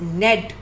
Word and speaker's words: knead: इसमें के भी साइलेंट है. कुछ वर्ड्स में लेटर्स साइलेंट होते हैं, वी रीड them like this only. The word is नेड.